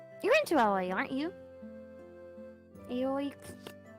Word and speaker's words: Aoi: do i pronounce it just remember there's no y sound oh it's it's not